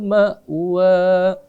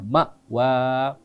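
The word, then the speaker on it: مأوى: Ma'wa. Ya. Amzah itu hati-hati juga ya. Hati-hati juga ya. Jangan dibawa ke in, enggak. Bukan ma'wa, ma'wa. Ya, karena dia amzah.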